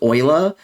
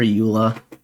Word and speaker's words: Eula: I used to think her name was Euler because her name reminds me of Euler's theorem, or Euler's number. And I have some friends from Germany who also say that their natural way of pronouncing her name would be Euler. And then it took me a while to call her Eula.